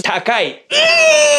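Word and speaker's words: 高い: yes sweet yes yes now expensive is takai that's another difficult one to remember but don't worry if you watched my last video I already talked about the word Tak this also means to high so you can remember it like the price is high the price is tall tall guy tall guy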